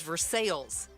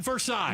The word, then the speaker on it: Versailles: And in Kentucky there's Versales. Not Versailles.